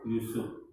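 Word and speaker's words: Jusuf: B.J. itu ejaan lama, ya. J itu menjadi Y, ya. Jadi namanya adalah B itu Baharudin, J itu adalah Yusuf Habibie.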